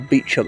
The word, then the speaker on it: Beauchamp: She was a Beauchamp, or Beauchamp as it became pronounced when it was anglicised, and because somehow he